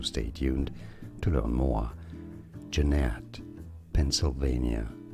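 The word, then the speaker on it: Jeannette: tuned to learn more Jeanette Pennsylvania Jeanette stress on the second syllable Jeanette and now you know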